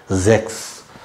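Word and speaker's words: sechs: ஜெக்ஸ் ஆறு செக்ஸ்ன்னா ஆறு இங்க பாருங்க இக்னு சவுண்ட் வருது பார்த்தீங்களா ஏற்கனவே சொன்னேன்ல இதுக்கு எத்தனை சவுண்ட் இருக்கு இக் இருக்கு இக் இருக்கு மத்த இடத்துல இச் கூட வரும் அது மாதிரி இந்த சிச் எஸ் சே ரெண்டுக்கு இவ்வளவு சவுண்ட் இருக்கு இங்க வந்து இக்னு வருது ஜெக்ஸ் இக்னு வருது சில இடத்துல மாகன் ஹ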